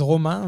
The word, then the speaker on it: Romain: So in French it's Romain, but in the US they call me Romain Lettuce.